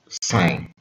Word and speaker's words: sin: The three trig ratios are sine, which has the short form sin and is pronounced sine, cosine, which has the